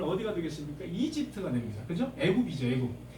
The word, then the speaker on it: 애굽: 애굽이죠, 애굽. 이집트를 히브리어로 발음하면 애굽이 되겠습니다. 에집트, 애굽 이렇게 되죠.